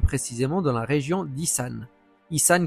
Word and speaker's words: Isan: Issan qui se prononce donc issan et non issan.